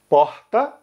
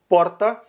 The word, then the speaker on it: porta: A gente tem também, de novo, a questão da letra R na palavra porta, que ela vai ser pronunciada com um R raspado em Rio de Janeiro, Minas Gerais, Bahia, Pernambuco e Ceará. Então, porta. No Rio Grande do Sul é o R enrolado, porta.